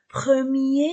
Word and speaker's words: premier: attention à la prononciation premier masculin premiè féminin premiier j'ai prononcer r premier je ne prononce pas r l'adjectif masculin en on